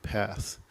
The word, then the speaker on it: Perth: For one example, as I said, I flew to Perth, Western Australia, and they pronounce it Path. There's no R's, like shock, not shark, it's a shock, so it's Path.